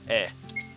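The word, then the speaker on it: え: It's eh. Okay. Makes sense. It's pronounced eh.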